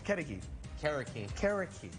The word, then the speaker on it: Carriqui: Casio black beans and some brisket and and pronounce the name of the restaurant for me karaki and that is a little bird right it